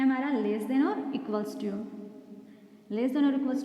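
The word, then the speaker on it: ==: इसे हम ऐसे नहीं प्रोनाउंस करेंगे इक्वल इक्वल, नहीं, ये क्या है हमारा इक्वल्स टू।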